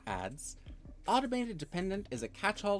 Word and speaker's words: ADs: Abbreviated as AD and referred to in the common conversation as AD or ADS pronounced ADS.